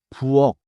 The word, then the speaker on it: 부엌: the word ends there the final key is pronounced 기억 부엌 부업 짧게 닫아요.